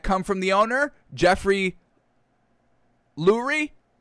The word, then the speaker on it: Lurie: Jeffrey Lurie, however you pronounce it, it's L-U-R-I-E, so I'm taking it as Lurie for now. Lowry does come off the tongue better, though.